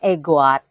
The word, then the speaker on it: EGOUADE: e goat gitu ya tulisannya sih ego Wadi tapi katanya bacanya egoit gitu dan profilm yang mau